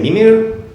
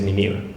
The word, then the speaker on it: Mimir: to use this sty because I often say mimir but it's the proper pronunciation is mimir just like the baby dog was sleeping in